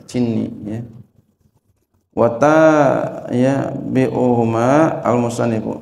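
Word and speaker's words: جني: Jinin dan Abul Fatih bin Jinni Jinni orang bacanya Jinni ya wata ya bi'uhuma al-musannif ya dan mengikuti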